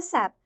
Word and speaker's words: SAP: You can say SAP also, but that is not appropriate. Even you can go to YouTube or SAP channel. Lot of channels are there. SAP everywhere they pronounce it. SAP because there is a logic system, application and products.